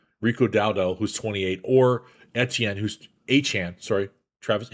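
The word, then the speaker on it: Etienne: Or Etien. Who's Achan? Sorry, Travis Achan.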